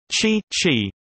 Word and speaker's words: qi: Topic: Qi, pronounced qi in English, is a movable positive or negative life force which plays an essential role in feng shui.